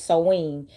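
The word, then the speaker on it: Samhain: celebrate seen which it it's spelled like Sam H but it's seen and Halloween that is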